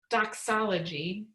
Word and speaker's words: Dachsology: So dox, not It's a little extra phlegm in it. Doxology. And so it's not the DOX that we usually see in the church, but dox.